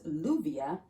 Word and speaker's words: lluvia: Two L's in Spanish, they sound like your J in English. Some people in Spanish and some certain Spanish-speaking countries, they like to pronounce that double L like a Y sound, right? For example, the word rain in Spanish is with a double L. If you're tempted to say this is lluvia, I want you to